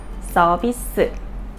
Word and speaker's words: 서비스: about the Korean term 서비스. What does this mean exactly? First, it's the Korean pronunciation of the English word service. But it does not usually mean the same thing. In Korea, 서비스 or service means something